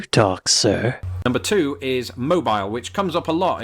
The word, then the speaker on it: Mobile: I said but Americans they like to say mobile when referring to things that move or to